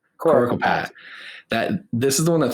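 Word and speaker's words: Coricopat: Coracopat. Coracopat.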